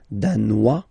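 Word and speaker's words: danois: Denmar Dan Dan okay insist on that Dan don't pronounce the final s Dan here you pronounce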